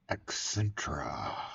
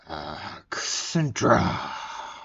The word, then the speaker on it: Accentra: Yale Commercial is now Accentra. Accentra. ASSA Abloy Accentra. AAA. Oh, that name's taken. I'm pronouncing it like that because there is a Hyundai accent.